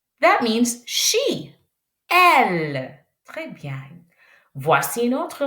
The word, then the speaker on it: elle: On ne prononce pas E. Ch. L. L. L. L. That means she. Elle.